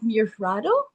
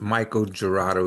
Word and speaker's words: Michael Gerardo: And I have Mirfrado. go ahead and share and correct my pronunciation. No, it's Michael Gerardo.